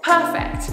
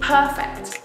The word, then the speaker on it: perfect: the stress changes accordingly perfect the adjective perfect when we change that to a verb the stress changes to the second syllable perfect I have to perfect my work so it